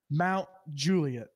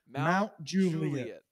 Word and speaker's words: Mount Juliet: up we gotta face its Mount Juliet the emphasis is on jus Mount Juliet say it again Mount Juliet Batum got it welcome to Mount Juliet anyways you've driven insane